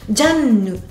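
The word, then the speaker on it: ジャン: que encore une fois le e final de Jeanne ne se prononce pas. Donc en japonais on va le chercher dans un ninu nino. On va prendre le N. Jan Jan.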